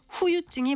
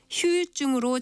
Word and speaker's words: 후유증: 이것은 후유증이 맞는 표현인데요. 휴유증으로 잘못 알고 있는 분들이 꽤 있는 것 같습니다. 후유증에서 두 번째 음절의 모음 유의 발음으로 첫 번째 음절의 모음도 유로 발음해서 휴유증이라고 하게 되는데 뒤후자를 쓰는 후유증이 정확한 표현입니다.